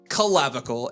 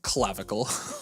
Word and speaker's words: clavicle: Man, you are saying the word collavicle and it is clavicle.